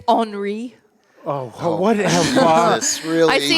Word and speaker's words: Henri: No, we survived the Hurricane Henry of 2021. I believe Hurricane? it's Henri.